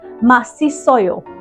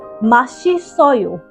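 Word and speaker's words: 맛있어요: It says Masisoyo. That's how that word is pronounced, based on the romanization that you're seeing on the screen, right? However, the word is Mashisoyo, because in Korean, one's S, which is known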